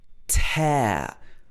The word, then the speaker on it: tear: don't tear it so in the british accent this is pronounced with a long diphthong sound air air tear but this word can